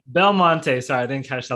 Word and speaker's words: Belmonte: Did I pronounce the last name? Belmonte. Belmonte.